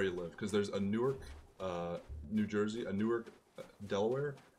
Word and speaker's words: Newark: it there's nork which is how you pronounce the Newark from New Jersey and then nuan if you're from Delaware